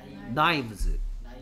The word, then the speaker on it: knives: 근데 칼들은 Knives. K가 소리 안 납니다. K가 묵음이죠. 그 나이프가 아니고 나이프, knives.